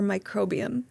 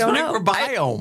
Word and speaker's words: microbiome: Pronounced microbiome or microbium. Oh, no. I think it's microbiome. Is it? I've been saying it wrong, but yes.